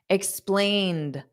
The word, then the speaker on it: explained: Dada explain da da explained now the e d is just pronounced as a soft D explained so the Ed does not add an extra syllable d da explained the